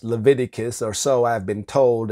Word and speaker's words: Leviticus: know why I think it's funny to say Levi tickets or Livi tickets it's pronounced Leviticus or so I've been told and but I'm